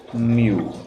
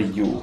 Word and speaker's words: mu: Mu. It's not a U, it's a mu.